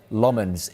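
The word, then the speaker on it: Lammens: of the window, but United opted to sign Lmens instead.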